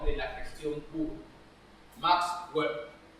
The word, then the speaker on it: Weber: Max Weber. Weber o Weber, como quieran pronunciarlo.